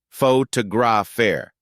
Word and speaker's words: photographer: In photographer, we stress the second syllable, photographer.